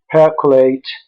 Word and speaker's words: percolate: it was found that words like cognate percolate germinate which are stressed on the first syllable were stressed by our